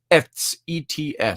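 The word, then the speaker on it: עץ: hebrew word for that tree is the word pronounced ets if you spell it phonetically etz it's a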